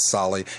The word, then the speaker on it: Sali: Again, if you're just tuning in, my guest is Sali. Am I saying your name right, Sali? Yeah, pretty much. I always say Sali rhymes with barley.